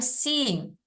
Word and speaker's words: seeing: Bukan sing ya, seeing.